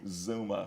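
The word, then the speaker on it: Xooma: o m a so how you pronounce that Zuma Zuma yeah Zuma worldwide Zuma worldwide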